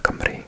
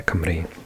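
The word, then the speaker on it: Cymru: And so, yeah, Camry, and lots of people in England mispronounce it because it's, um, C, Y, M, R, U, and it's a little bit deceiving cuz our vowels often make different sounds to English. So, the Y is more of a H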